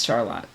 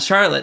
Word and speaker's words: Charlotte: CHARLOTTE. Charlotte. I remember that one. Yeah, Charlotte, but yeah, it's Charlotte. Not Charlotte, it's Charlotte.